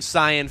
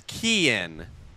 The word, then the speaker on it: Kean: I've been saying Cyan Phillips for a while. It's Kean. Got to make that change, that pronunciation in my book.